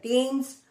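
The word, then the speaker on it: Thames: reverse द Ganga द टेम्स यस be careful यहां पर spelling T एच ए एमई एस है ब इसकी प्रोनंसिएशन टेमस है यह इंग्लैंड की रिवर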